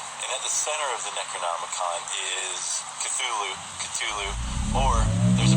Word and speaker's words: Cthulhu: But Cthulhu is one that I think most Lovecraft scholars would argue is the appropriate pronunciation. Right. The way I've always said it, and the way that most of the fans that I've talked to have always said it, is Cthulhu.